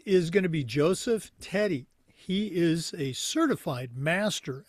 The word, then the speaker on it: Teti: Joseph Teddy, welcome to the Educational AD Pro podcast.